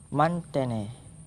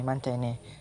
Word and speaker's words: Mantene: Nah, insektisida yang kedua yang Anwar gunakan adalah ini berupa yang namanya adalah Mantene. Jadi kalau ejaannya MANTHEHNN, Mantene.